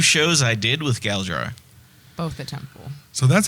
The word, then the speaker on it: Galdrar: the first 2 shows I did with Galdrar, Both the temple.